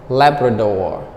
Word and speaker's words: Labrador: the first I'm sorry the stress is on the first syllable Labrador leopard or leopard or